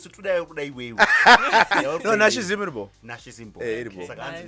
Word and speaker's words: Nashie Zim: it's Nashie Zim.